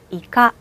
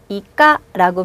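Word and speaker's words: イカ: 이카. 한번 더. 이카. 그렇죠? 자, 여기서 여러분께 한 가지 팁을 알려드릴게요. 여러분, 발음이라는 게 간혹 학생들한테 질문을 받는데요.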